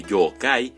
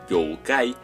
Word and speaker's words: Yōkai: los seres que engloba cabe puntualizar que yokai se pronuncia como si tuviese dos o debido a que pronunciaciones como joe kay no se consideran correctas el origen de esa forma de decirlo se cree que surgió como un malentendido de pronunciación a la hora de trasladar el término al inglés sus intenciones al igual